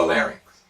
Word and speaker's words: larynx: bronchi and the lungs please pay special attention to the pronunciations of the fairing and the larynx think about ice skating rinks or roller skating rink this concludes our introductory